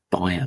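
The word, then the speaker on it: Bayer: be bear buyer um depending how you want to pronounce the name I would say buyer but apparently bear is the more correct term but I I'm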